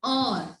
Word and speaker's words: hour: So here H is silent and it gave us a vowel sound or, so O is a vowel sound, ठीक है बच्चे।